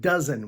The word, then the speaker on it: dozen: cozy does and Frozen the exception is the word dozen which has a short u sound uh doesn't the letters